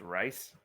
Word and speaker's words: Reese: First off, it's pronounced rice, like the grain.